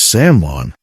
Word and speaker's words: salmon: And the waiter just looks at you, blank stare, because the L is silent. It's salmon.